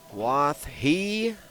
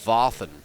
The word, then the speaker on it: Wathen: I think the pronunciation is Wathen.